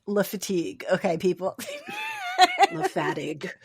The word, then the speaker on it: Le Fatigue: Lefattig.